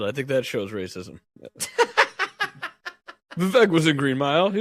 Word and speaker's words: Vivek: He's talking with somebody, and somebody brings up Vivek, and Bill Maher goes, "It's Vivek. It rhymes with cake."